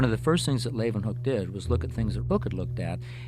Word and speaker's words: Leeuwenhoek: Then they pronounce it with a V. Hoek. Leeuwenhoek.